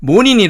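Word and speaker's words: morning: 닝 모닝 이렇게 말하는데 원어민 들은 이 모닝 조차도 모닝 이라고 발음하지 않고 뭐니 라고 발음합니다 그래서 머린 탐 이렇게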